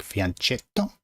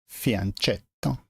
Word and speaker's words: fianchetto: But fianchetto is pronounced very strange. You probably pronounce it like fianchetto. Fianchetto.